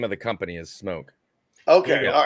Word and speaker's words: SMOK: I say that's pronounced smoke. But there's other people that say you're saying it wrong, Toby. It's pronounced smock. I'm like, no, even the website will tell you it's pronounced smoke as if it had the E there.